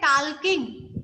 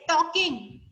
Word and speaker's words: talking: नहीं होगा because L is silent letter, so that we should say talking.